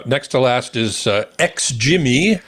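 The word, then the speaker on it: XGIMI: to last is uh X jimy I think that's how you pronounce it xgy yeah xgy XG Mii the AA 2 MH so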